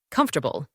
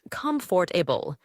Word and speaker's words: comfortable: Comfortable. Many learners pronounce it as comfortable, but native speakers often say comfortable, dropping the or sound.